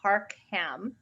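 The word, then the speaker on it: Harckham: so the uh senator's name is senator harcum it's spelled a little bit differently than one would expect it's h-a-r-c-k-h-a-m harkham um and it's built e um seven eight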